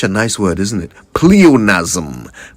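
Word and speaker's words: pleonasm: Pleonazm P L E O N A S M Ponazm. And that's how you say it, right?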